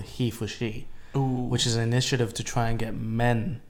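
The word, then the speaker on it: HeForShe: Because even Emma Watson's initiative at the UN is called He for She, Ooh. which is an initiative to try and get men to promote feminism. I thought Yeah. it was Hefosh.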